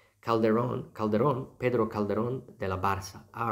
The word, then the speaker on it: Barca: As C is pronounced K in Roman Latin. So technically it should be Barca or Barcelona.